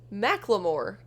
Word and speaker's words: Macklemore: talk talk of dismemberment it's pronounced McLemore okay I still can't